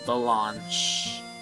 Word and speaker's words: Blanche: Blanche. Blanche. They're French, which is what, and each one respectively means black and white. Oh, wait a minute. Is there a joke in there? Oh, Blanche is white, means white in French, and Noir